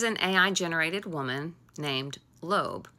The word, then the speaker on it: Loab: There is an AI generated woman named Lo. It's spelled like Loab, L O A B, but it's pronounced lobe.